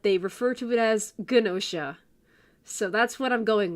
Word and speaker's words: GNOSIA: I've heard it both as nosha and ginosha, but I'm going with ginosha because in the anime in all the trailers and all that, they refer to it as ginosha.